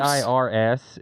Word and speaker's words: Ayers: AIRS is generally how I tell people, like the plural of air.